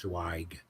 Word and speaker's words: Zweig: And my last name is Zweig. It's pronounced Zweig.